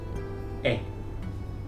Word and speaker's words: he: have in spanish is e spelt h e but you don't pronounce the h in spanish is silent so i